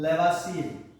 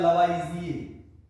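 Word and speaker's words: Lavoisier: Father, जो रसायन विज्ञान है इसके फादर हैं लेवासिए। इसका जो शुद्ध प्रोनाउंसिएशन होता है वो होता है लवाइजिए।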